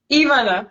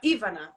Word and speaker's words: Ivana: How do you pronounce it? Ivana. Ivana. Stress on that first syllable.